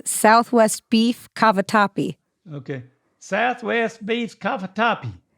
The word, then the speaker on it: cavatappi: first one was sweet Beat cup I can't pronounce it kava Tapia you want me to help you yeah it's Southwest beef cavatappi okay Southwest beef Cafe topi there you go